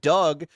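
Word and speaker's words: Dug: They should have brought in Signature Pest Solutions to get rid of it because Doug Doug's rhymes with bug.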